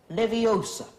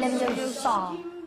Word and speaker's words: Leviosa: Wingardian leviosa. Off you go then. Wardian leviosa. Wingardiums. Wingardium leviosa. Stop. Stop. Stop. You're going to take someone's eye out. Besides, you're saying it wrong. It's Leviosa, not Leviosa.